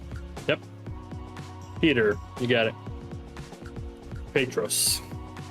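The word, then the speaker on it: Πέτρος: Peter you got it petus yeah not like Padre not not like the Spanish word for father padre right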